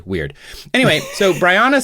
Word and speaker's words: Bryanna: I pronounced it because she did write in her email how to pronounce her name, B-R-I as in bright, so Bry, and then on as in on, and then na as in banana. So I think it's Bryanna, I think is what it is.